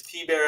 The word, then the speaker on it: Thibert: Is it T Bear? And he goes, yeah. And then he walked off and got a beer. And that was it. That was it. It was T Bear after that.